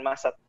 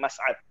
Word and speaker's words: Massad: Dan sebenarnya dia kalau di bahasa Arab bukan Massad, tapi ejaannya Mas'ad, pakai ain, Mas'ad.